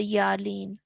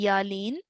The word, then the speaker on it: Yaa Leen: top of the letter and then you would ease into the sound of the year lean okay so that is how you would pronounce a yarlene and a yarlene would be pronounced for two counts okay so you wouldn't